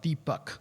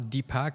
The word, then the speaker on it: Deepak: his name correctly well my name is pronounced deep buck okay but most people pronounce a Deepak and sometimes I forget